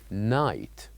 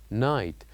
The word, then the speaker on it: night: we learned last time which is night night the G and H we write it here yes but they are silent we don't say it we only write it